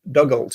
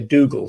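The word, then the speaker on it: Dugald: did this presentation before I pronounced his first name dougl which I thought is what it was I was told that you should you should say Dole so I'm going to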